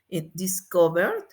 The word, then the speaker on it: discovered: Discovered suena la R aquí. Entonces, ¿cómo vamos a pronunciar la R? Con D. Entonces, el pasado sería discovered. Discovered.